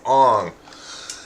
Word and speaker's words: Aang: They pronounced his name Ong. Apparently, that was due to the child actor wanting them to call him that.